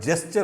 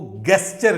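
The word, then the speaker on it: gesture: हमारे फ्रेंड्स भी हैं, वो गेस्चर कहते हैं। This is नॉट गेस्चर, the word is जेस्चर, जो असल प्रोनाउंसिएशन है।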